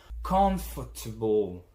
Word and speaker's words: comfortable: They shorten it to almost nothing. Comfortable. See that the fort is not pronounced at all or barely.